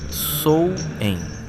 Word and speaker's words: Samhain: Na noite entre 31 de outubro e 1eo de novembro acontecia um festival chamado Samin, pronunciado algo próximo de Sou.